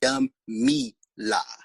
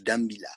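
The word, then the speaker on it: Dumela: Dumila. Do, folks. Dumila.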